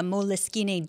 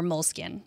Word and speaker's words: Moleskine: Yep, they are the same ones who make the Moleskine journals, or Moleskine, however you want to pronounce it. The Moleskine, I like that pronunciation.